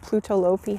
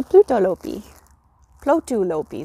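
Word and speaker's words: Plötulopi: was using this white pluto lopey held double and i was like oh yeah so i ordered myself a sweater's quantity a pluto lopi sorry say it wrong um yeah and this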